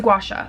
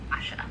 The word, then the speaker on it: gua sha: Right here is a gua sha, okay? I need to Google like how does somebody pronounce it? Gua sha.